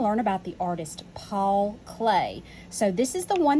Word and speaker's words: Klee: would print be pronounced cle but you actually pronounce it clay and paul clay was